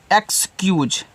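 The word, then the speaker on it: excuse: ई एक्स सी यू एस ई इसको पढ़ते हैं एक्सक्यूज। क्या करते हैं? इसको पढ़ते हैं एक्सक्यूज। इनसे एक्स इसको क्यूज पढ़ते हैं। ऐसे क्यूज।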